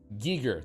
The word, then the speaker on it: Giger: Is this really what you're talking about, Giger?